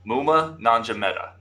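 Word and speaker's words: Maema Njongmeta: So go ahead and pronounce his name again then, because we're going to have to know this. Yep. Muma Nanjameta.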